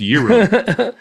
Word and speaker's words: gyros: It's pronounced Euro.